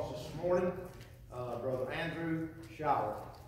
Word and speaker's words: Shirah: We brought him to preach for us this morning, Brother Andrew Shirah. Did I say that right? Shirah? Okay. I said it right the second time. I didn't say it right the first time.